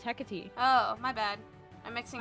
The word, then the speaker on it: Hecate: Then we got Hecate, which Madison, you don't know. I thought it was a cat. No, it's Hecate.